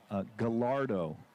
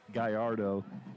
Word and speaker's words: Gallardo: his family you know someone says to me it's pronounced just like the car so i'm thinking okay italian sports car you know and i i thought okay gallardo you know when i